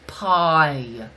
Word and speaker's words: paille: It's pronounced pie.